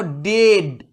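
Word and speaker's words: dead: যেমন দেখো ডেড, উচ্চারণটা সাউন্ড এলো, ই আর এ মিলে একটাই সাউন্ড তৈরি করেছে, ডেড।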